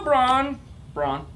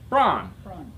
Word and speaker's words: Braun: I Drive it around my grandfather was very insistent you say it Brown ain't way different journals BRE you win yes just like the shaver braun phonetically yes braun my grandfather was very